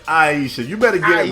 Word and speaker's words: Ayesha: It's Ayesha.